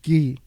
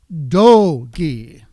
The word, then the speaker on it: dogi: Inside, folded neatly, was a pristine orange gi. Do-gi. Not just gi. I remember when this movie was coming out, people were pronouncing it G-I as well.